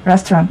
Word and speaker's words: restaurant: Restaurant. Restaurant. Restaurant. 니은 발음을 끝내야 돼요. 이응 발음을 하면 안 돼요.